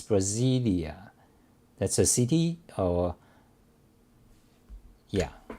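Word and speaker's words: Brasília: pronounce the city correctly brasilia okay so in brazil in portuguese it's brasilia that's a city or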